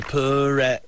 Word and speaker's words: Perrette: Pauley Perrette, that's what you get. Yeah, he writes me songs with my name in them. Everything that rhymes with Perrette, which isn't easy. You have like Barrette and Get.